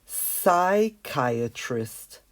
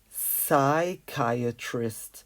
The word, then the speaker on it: psychiatrist: it in grey so let's cross this P out because we really don't pronounce it it's psychiatrist psychiatrist without the P so